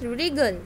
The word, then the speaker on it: wriggle: Beta, this word is wriggle, though it begins with W, but in this word W is silent and we will pronounce wriggle.